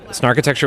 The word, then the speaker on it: Snarkitecture: name is really important narcho texture was a name that came to us for several reasons namely rhymes with architecture but it also refers